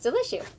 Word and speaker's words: Deliciou: was it delicious yeah it's like bless you but delicious we looked it up